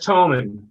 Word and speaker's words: Thoman: is that Thoman? Is that how you pronounce it? It's Toman. Thoman, I apologize.